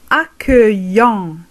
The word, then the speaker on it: accueillant: Accueillant, accueillante, accueillant, accueillante. مرحب للمذكر، مرحبة للمؤنث. إذا بالفرنسية نقول لو ماسكولين مذكر accueillant، لا نقرأ حرف ت في الأخير.